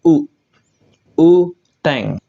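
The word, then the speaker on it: 雨天: kanji surga ya minasang dia akan dibaca dengan cara baca ongyominya yaitu u u teng yang artinya cuacanya hujan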